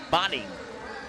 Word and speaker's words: Boding: And the 5'11 7th grader Kora Boding. It's a long a I was told. So botting.